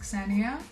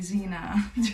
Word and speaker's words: Xenia: Common for Americans and Australians to confuse the pronunciation of the X for a Z, so they kept calling me Xena throughout the whole thing.